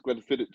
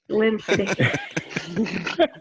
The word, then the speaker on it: Glenfiddich: So you have to pronounce it correctly. It's Glenfiddich in America. Glenfiddich. And then we have Balvenie, not the Balvenie, which we acquired the